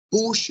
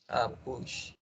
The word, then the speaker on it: puxe: E, Pablo, aí, uma coisa da pronúncia. Estudantes, cuidado aí. Seria puxe a cortina. Puxa.